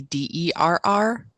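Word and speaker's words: derring-do: Daring do, which is pronounced the same way, but it's supposed to be DERRING instead of DARING.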